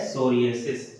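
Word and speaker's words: psoriasis: सोरिएसिस, पी से spelling चालू होती है, लेकिन इसे कहा जाता है सोरिएसिस।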